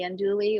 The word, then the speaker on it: andouille: And the other one, andouille, Andouille. Yeah. Okay. because the LLE is like ye.